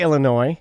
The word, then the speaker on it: Illinois: or illinois i say illinois yeah so you drop the s but both toronto and